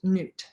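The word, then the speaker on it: Nut: outside of newt and her name is spelled n-u-t but it's pronounced newt there's so much more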